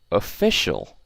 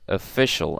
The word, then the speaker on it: official: have official official right it the stress is on the O and F okay basically think of it as you know the words being cut up into different pieces and the stress is on one of those pieces okay so official and the stress is more of on the O rather than the F okay then we have